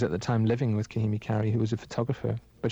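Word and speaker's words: Kahimi Karie: Kahimi Kari, yeah.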